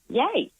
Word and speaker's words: Yea: a a cast before and how do you pronounce the town of yea yay okay thank you well done Ash again Bluey